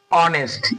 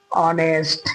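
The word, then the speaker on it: honest: क्या हो रहा है एच तो आपका साइलेंट हो गया तो यानी कि उच्चारण आपका यहां से शुरू हो रहा है इसका उच्चारण क्या हो रहा है पढ़िए ऑनेस्ट यानी कि औ आ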